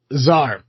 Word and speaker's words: czar: uh Zar uh an emperor of Russia before 1917 which uh that is spelled TSA R.